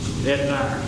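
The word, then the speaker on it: Etnyre: How do you pronounce that? Etnire.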